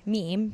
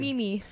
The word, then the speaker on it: meme: So Jim Nance mispronounced the word meme. Jim Nance is an out of touch buffoon these days. He said, I'm sorry. He said Mimi.